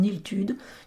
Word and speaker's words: Illtud: Pour info, je crois qu'il faudrait prononcer Istide en gallois. Mais on le trouve francisé en Iltude, de même que son monastère, l'Aniltude, se prononcerait San-Estide.